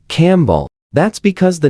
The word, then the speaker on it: Campbell: But Scottish people don't say camp ball when they meet someone called Campbell. They say Campbell.